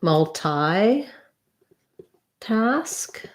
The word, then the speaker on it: multitask: multi um so either multi task um multitask multitask i think that has first syllable stress multi task or multitask again both of them are stressed on the first syllable so either multi-task or